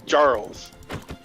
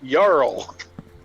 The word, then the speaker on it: jarl: killed me is in Skyrim they call them jarls I mean that's not how you pronounce it man it's yarl the word is yarrow not jarrow which is